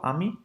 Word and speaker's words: ami: And for pronunciation purposes, here we go. Ami. That's ami here, right there. It's not Amy, just let you know, okay? It's ami.